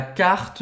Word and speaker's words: carte: Aqui eu não digo carte, eu não digo carte. Lembra que o E, geralmente no final do francês, não é pronunciado. Termina onde? No T. Vous voulez la carte de vin.